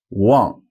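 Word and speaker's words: 忘: plus no funny tricks it is actually the Ang the father a here a n g and it's spelled w and G as you may have guessed up until this point but I'm going to keep mentioning it so Wong is a fourth tone Wang means forget but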